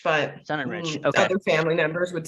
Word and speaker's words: Sonenreich: a Leva and um my last name I say sun and Rich but sun and Rich other family members would